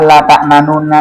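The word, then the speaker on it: لا تأمنا: Lafaz la ta'manuna ini boleh dibaca ikhtilas, yaitu membaca harakat dengan samar dan cepat sehingga suaranya tinggal 2/3 harakat. Jadi prakteknya begini. Qalu ya abana ma laka la ta'manuna ala Yusuf. La ta'manuna ala Yusuf. La ta'manuna ala Yusuf. Cepat.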